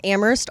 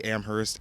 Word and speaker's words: Amherst: name means the town amherst also has an h in it and it's supposed to be silent but a lot of